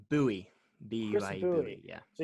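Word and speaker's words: Buie: Bowie.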